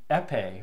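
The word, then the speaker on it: Épée: Torero, the Dimatis, that's a good one, the Epe, or as it would have been pronounced, the EP, you know, like the EPEE.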